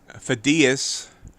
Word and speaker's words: Phidias: Phidias, I finally figured out the right way to pronounce that.